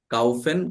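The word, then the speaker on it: kaufen: এটাকে আপনারা কনজুগেশন করেন তো দেখি প্রত্যেকটা সাবজেক্টের জন্য, এই প্রত্যেকটা সাবজেক্টের জন্য এই কাউফেন, কাউফেন। প্রোনাউন্সিয়েশনটা কি হবে?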